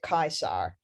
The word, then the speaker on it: Caesar: But for the classical period, basically, that C is a k, and the V is a w.